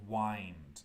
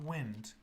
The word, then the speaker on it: wind: later but very quickly number one is wind not wind wind w i n d